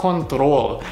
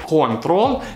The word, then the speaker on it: control: И еще, ребята, у вас есть слово control. И скорее, да, в русском так произносится ударение на первый отец, control. Но когда вы говорите по-английски, мы здесь ставим опять ударение на второй слог.